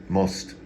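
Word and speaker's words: мост: that's bridge in Russian most most you see what I mean about those eight O's and R's most phonetically phonetically Latin m-o-s-t mulch Bridge doesn't look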